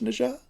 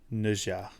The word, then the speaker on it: Nezha: Maybe we do a little media trade again, and if I watch Clerks, maybe you watch Nisha.